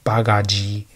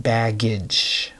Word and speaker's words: baggage: So you'd get a learner pronouncing this word bagaji. So, but baggage.